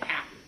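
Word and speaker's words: Hapi: god of denial named happy just like you know the word like oh i'm so happy but it's spelled h-a-p-i and you know perhaps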